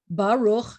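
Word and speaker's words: ברוך: what happened we have baruch two syllable words the accents at the end of the word so the tonic is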